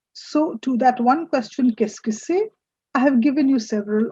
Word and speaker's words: Qu'est-ce que c'est: Qu'est-ce que c'est?